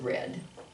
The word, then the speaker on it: read: it but you probably you spell it this way just like the infinitive form but we pronounce it red okay um i think